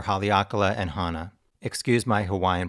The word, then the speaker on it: Hawaii: Excuse my Hawaiian pronunciations. Some people pronounce the W as a V, so instead of Hawaii, they pronounce it Hawaii.